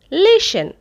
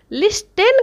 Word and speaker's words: listen: Next word লিসেন, লিস্টেন কহিব না, লিসেন এল আই এস টি ই এন, লিসেন মানে শুনিবা, এটি টিটা সাইলেন্ট রহে।